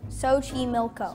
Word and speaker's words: Xochimilco: Xochimilco.